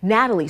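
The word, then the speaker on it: Gnatalie: open to the public Natalie spelled with a G because of the stinging gats that pestered excavators from sunrise to sun down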